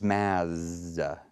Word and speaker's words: Mads: I see it yes Mads Mikkelsen is that a real name yes and it's it's math you don't pronounce the D you don't pronounce the